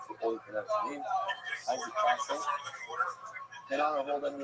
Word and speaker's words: Castle: Because I mispronounced his name for over a week. I called it Castell. I wasn't joking around. I thought that's what it was. Castell. For some reason, somebody said, oh, it's like the word, like this word. It's pronounced like this word. Now, that word to me means Castell. That's how Castell wine. I believe that's how they pronounce it. Castell. No, obviously it's Castle.